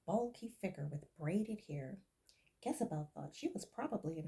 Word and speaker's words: Gezebel: Jezebel, it's spelled with a G instead of a J, Jezebel explained and giggled.